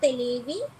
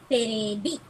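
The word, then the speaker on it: テレビ: So the televi, the V in televi becomes B. It gets converted to B. So it becomes on the whole not televi, it's terebi.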